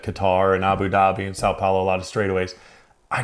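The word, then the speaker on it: São Paulo: We are going to Sao Paulo Grand Prix in Brazilian. One more try. Sao Paulino. It would be Sao Paulo. Sao Paulo. Brazil. You nailed it.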